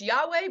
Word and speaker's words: Yahweh: God which is that four letter word that we pronounce Yahweh but doesn't really we don't know the vowels where the E Source